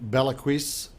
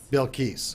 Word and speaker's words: Bilquis: what a day with Bella crease on the show with me today Hana I probably mispronounced that didn't I yes I will tell them I love how you really say it bill keys all right Hana I've